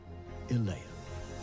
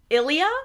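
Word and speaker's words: Illéa: form one great land Ilah no first no no how oh my God for reference it's pronounced Ilia and we know that from the audio book like if you're ever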